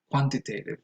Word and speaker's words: quantitative: So for example, you can say, welcome to Introduction to Quantitative Research, and that's quantitative. That is because the T here vanishes into an N, in the same way